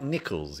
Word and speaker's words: Nikles: So it's Mike Nikles, yeah? Or... Perfect. Yeah, that's the right pronunciation.